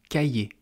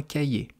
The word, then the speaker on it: cahier: Cahier, ça s'écrit C-A-H-I-E-R. Il faut savoir que le H, on ne le prononce jamais en français si il est seul, si il n'est pas accompagné d'une autre consonne. Donc si le H est la seule consonne avec 2 voyelles de chaque côté, on ne prononce pas le H.